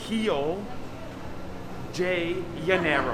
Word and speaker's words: Rio de Janeiro: Touchdown Rio de Janeiro, or should I say Rio de Janeiro. I think that's proper pronunciation, Rio de Janeiro.